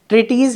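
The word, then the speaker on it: treatise: हम क्या बोलते हैं, ये ट्रिटीज ही है भाई प्रोनाउंसिएशन इसका, ठीक है।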